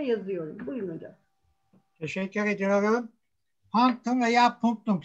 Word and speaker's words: punctum: İşte bu punktum hocam. Hemen kitabı da chat'e yazıyorum. Buyurun hocam. Teşekkür ediyorum. Ptum veya punktum.